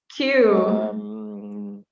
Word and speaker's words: queue: waiting line yeah the spelling is a bit strange q q and we don't use